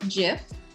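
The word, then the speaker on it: GIF: that i was wrong it's pronounced jif faz was correct so i googled it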